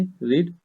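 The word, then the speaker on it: read: और पढ़ने के लिए रीड। रीड की थर्ड फॉर्म रेड। ठीक है, स्पेलिंग सेम रहेगी, रेड।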